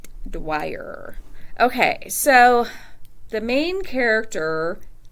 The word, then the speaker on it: Dwyer: I think that's pronounced Dwyer. Okay, like Dwyer.